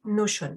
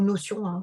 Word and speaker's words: Notion: Donc l'outil Notion, en fait, ou Notion, c'est vrai que je le prononce à l'anglaise, c'est vrai qu'il vous